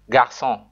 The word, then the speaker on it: garçon: It changes a hard C like K into a soft C sound like S, e.g. garçon.